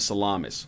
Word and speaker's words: Salamis: Battle of Carrhae, Battle of Esculum, Battle of Telamon, and the Battle of Salamis. I just want to say it's actually Salami pronounced salamis.